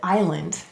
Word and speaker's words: island: of a little island they added an s to island so that's kind of interesting isn't it how morphology they chose to add an s a silent s to keep the meaning